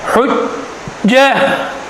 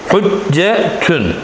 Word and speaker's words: حجة: When we stop at circle ta, we pronounce it as ha. Hujjah.